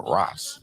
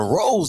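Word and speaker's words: Ro's: You want to go to Rose Designs. Don't put that apostrophe there, man, because you change the pronunciation of the word when you don't put the apostrophe there.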